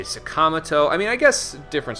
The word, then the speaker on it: Sakamoto: They do the same thing with Ryuji's last name, where I would be like Sakamoto. They say Sakamoto.